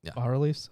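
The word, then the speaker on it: bas-reliefs: annals and base reliefs by reliefs is it that's pronounced bar release okay thank you i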